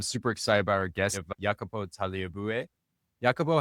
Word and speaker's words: Jacopo Tagliabue: I'm super excited about our guest, Jacopo Tagliabue.